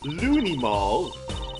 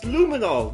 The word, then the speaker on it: luminol: part we did the Looney Mall testing on in court Looney mall what's Looney mall it's luminol get it right Emma's kind